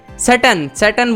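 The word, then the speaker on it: Tsetan: हमारे ऑथर के साथ हैं डैनियल, उनके एक फ्रेंड हैं, और टिस्टन, सैटन बोलेंगे इनको, टी साइलेंट है।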